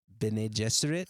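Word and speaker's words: Bene Gesserit: Beneserit. is the Benny Jesuit. Benny like Benny Blanco.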